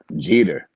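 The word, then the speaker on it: Geter: Jeter. It's like Jeter. Derek Jeter, but he got a J. I got a G, and he got a lot of bread.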